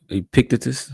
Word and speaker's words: Epictetus: another Stoic lesson from the Greek Stoic philosopher Epictetus.